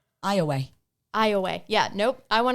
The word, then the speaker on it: Iowa: it's IOWA, but I would assume that the I is silent, so I would call it Awa, which is probably not right. Iowa. Iowa. Yeah. Nope. I want to call it Awa. It's Iowa.